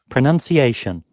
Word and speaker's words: pronunciation: a strange language so we say pronounce but listen how it is actually pronunciation pronunciation pronunciation you see we all forget that that you is there we say pronunciation because we or we